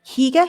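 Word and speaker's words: hygge: with a bit of um heer as I pronounce it you know that h y g g e I just want to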